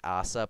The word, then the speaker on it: Asa: I think it's actually like Asa, but I pronounce it Asa because he sucks ass.